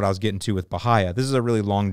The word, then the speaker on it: Bahia: I have a question you pronounced it bahaya sure I'm a St Petersburg native I was born and raised and we always called it bahaya as well but I always get made fun of for not pronouncing it correctly so thank you for proving me right thank you very much